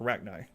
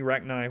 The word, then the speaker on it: Rachni: are the rack me the rachni whichever way you pronounce it they pass in both ways in the game so rack knee rack 9 whatever but as you might